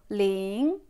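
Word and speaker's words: 零: Et en lisant, il faut faire attention à la prononciation et au ton. On commence par lire le 0. Ling.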